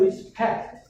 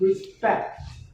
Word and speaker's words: respect: And second, you know, some of your pronunciation, like I noticed that you said respect. Actually, the P sound after S, we pronounce respect. Like another word like spy.